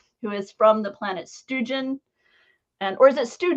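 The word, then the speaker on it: Stewjon: the character lodico who is from the planet stoogen and or is it stu john uh again it's never been spoken in universe so okay so how does lotiko say it i'll go with helen he says stoogen yeah okay so students so i've been saying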